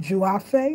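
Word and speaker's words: Duafe: You pronounce it Juafe. It's spelled D-U-A-F-E. Every time you see D-U, you say Juafe cone, but to the side,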